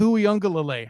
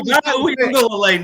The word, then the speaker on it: Uiagalelei: How can you say Tui Pelotu and then struggle with Uiagalelei? How the hell? Uiagalelei now?